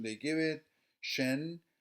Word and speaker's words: 神: Shen, just like sen, which is quite indicative,